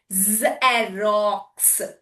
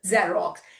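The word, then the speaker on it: Xerox: It is at the beginning with the E. It is making Z sound. Soft sound. Zerox. Zerox. Xyophone. Z sound.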